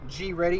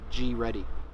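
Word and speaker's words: GReddy: Some G Ready, in case y'all want to know, that's how you pronounce it in Japan. G Ready.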